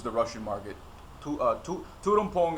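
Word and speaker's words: Tuol Tom Poung: Russian market to uh Tudum Pong is is like how you say it.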